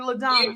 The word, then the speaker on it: LaDonna: hello Leticia thank you so much did I pronounce her name correctly Ladonna she did yes yes you did gotcha gotcha